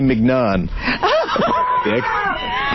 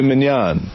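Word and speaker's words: filet mignon: the world, or how about tenderly aged filet mcnan dick. You're an You don't say. How do you say it? Man filet minan.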